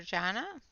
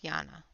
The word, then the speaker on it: Jana: in the chat for Jana, for Yana? She's gonna yell at me when I continually pronounce her name wrong. I know it's Yana.